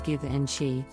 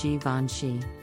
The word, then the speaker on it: Givenchy: another French luxury brand this name is often mispronounced as give and she but the correct pronunciation is Givenchy the famous little black dress that Audrey Hepburn